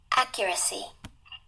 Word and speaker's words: accuracy: Accuracy.